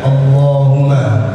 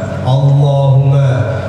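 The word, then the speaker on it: اللهمّ: Jadi ya, biasanya kita bacanya Allahumma, Allahumma. Tapi ingat, di atas huruf lam dan di atas huruf mim ada tasydid.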